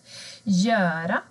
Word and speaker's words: göra: Göra. Verbet att göra. G och Ö blir J.